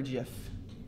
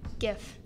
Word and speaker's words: GIF: Is it pronounced GIF or JIF? GIF. Oh, thank you. GIF. No, it is not peanut butter. It is not JIF. Thank you. It is a GIF.